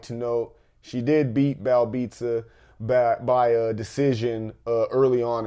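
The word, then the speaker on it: Belbiță: Even though it's spelled Belbita, those accent marks and stuff like that, it's Belbita.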